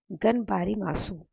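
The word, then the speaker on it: がんばります: तो एक बहुत ही मुश्किल शब्द हेक्टर ने बोला और उसका प्रोनाउंसिएशन मैंने डिक्शनरी में चेक किया तो इट इज़ गनबारी मासू, गनबरी मासू, जिसका मतलब है कि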